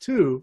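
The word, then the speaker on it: ט״ו: So every month you can see now, the 15th of Shvat, Tu B'Shvat, in Hebrew, Tes Vav, the letters Tes Vav, which can be pronounced two, means 15, is where we celebrate the birthday of the trees.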